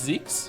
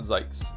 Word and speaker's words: Zeke: It's Zeke. Okay, so I'm saying it right. It's not Zekes.